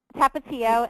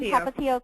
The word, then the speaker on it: Tapatio: Tapatio. It's the Point Hilton Tapatio Cliffs Resort.